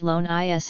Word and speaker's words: Lones: program sponsored by the National Rifle Association dot loans pronounced loan is s started shooting at age 12 by his